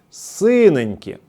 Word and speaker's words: синенькі: Синеньки! З наголосом на перший склад - це баклажани".